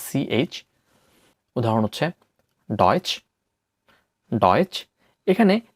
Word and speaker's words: Deutsch: উদাহরণ হচ্ছে ডয়েচ, ডয়েচ। এখানে টে এস সেহা থাকার কারণে চয়ের হালকা উচ্চারণ হয়েছে ডয়েচ, যার অর্থ জার্মান, জার্মান।